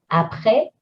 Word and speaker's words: après: Accent grave on E, après.